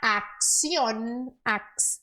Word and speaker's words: acción: Una buena acción. Aqui, ó. CC em espanhol normalmente é x.